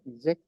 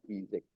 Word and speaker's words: ijek: Como pueden notar, no lleva el acento en la Y, ¿no es cierto? ¿Alcanzan a ver? La, esa es una I, después la Y. Suena como el castellano sería la I, Y, ¿cierto? Cuando vemos la diferencia, ¿no es cierto?, entre la I en el glótico arriba con el, ¿cierto?, podemos alcanzar a ver la Y. Eso se pronuncia como se ve, la Y.